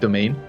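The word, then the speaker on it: demesne: one on the left what you're calling d e m e s n e is pronounced domain yes I don't know why it's just but it is domain is domain got it yes okay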